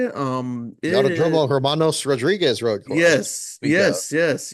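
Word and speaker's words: Hermanos Rodríguez: is is that how you say it UMO Hermanos Rodriguez road course yes yes yes yes the week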